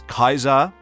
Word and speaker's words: Caesar: characters knowing the pronunciation of Caesar as Kaisar and of course a Caesar awe.